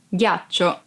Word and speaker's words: ghiaccio: Ghiaccio, ice. Ghiaccio, ice. Be careful because if you don't pronounce G as a hard sound like G, it would be ghiaccio, that it's a verb and means lie down.